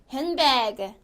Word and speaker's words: handbag: D가 탈락이 됩니다. 그래서 handbag, handbag.